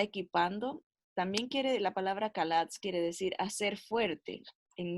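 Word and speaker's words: חָלַץ: palabra, se pronuncia ja, cuando es al principio la CH es K. Entonces se dice kalatz. Kalatz es la palabra librar en el Antiguo Testamento.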